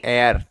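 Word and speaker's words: heir: यूज क्या करेंगे, ए, इसे क्या पढ़ेंगे, एयर, हेयर नहीं एयर, ए के हिसाब से,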